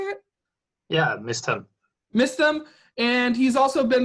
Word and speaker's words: Mysthem: Yeah, Mysthem.